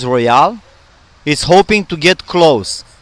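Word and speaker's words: Royole: based in Fremont California named Roy ole pronounced Royale is hoping to get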